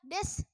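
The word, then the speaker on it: です: lagi ya Hei misalnya decu dibaca Des Ya kan kayak ada uu-nya gitu Jadi pada akhir kalimat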